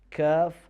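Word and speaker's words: كاف: Letter kaf is exactly, we use the root of our tongue, but now instead of using the soft palate, we use the hard palate.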